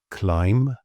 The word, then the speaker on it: climb: So basically, if you see an MB at the end of the word, just ignore the B. Some examples: lamb, climb, doubt, debt, subtle.